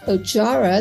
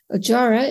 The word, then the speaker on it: Ojjaara: first up this week the FDA has approved ojara that's spelled o j j a a r a also known as Moma lot nib for the treatment of intermediate or high-risk myelofibrosis in adults with anemia ajara is a once a day oral Jack one